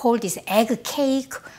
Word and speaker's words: gyeran-ppang: Niektorí ľudia to nazývajú vajíčkový koláč, gyeran-ppang. A niektorí to vyslovujú gyeran-baang Gyeran-ppang som prvýkrát ochutnala v Myeong-dong, v Seoul.